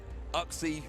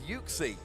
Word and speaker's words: Uxie: everybody played this one I called it oxy for way too long oh really yeah well because I'm German I always call it oxy it is uxy at least that's how I've always been told well this is also